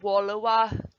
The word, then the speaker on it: Wallawa: saxby's home um it requires reading the first syllable of walawa with the same pronunciation as the english word wall not wallowa but it